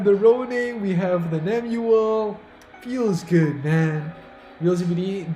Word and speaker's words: Nemuel: It's N-E-M-U-E-L. Nemuel, not Numel.